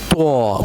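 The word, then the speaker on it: ط: Pronounce with me, taw. But there is difference in the ta sound and taw sound, okay? Slightly different and we will learn the difference in the next video, inshallah.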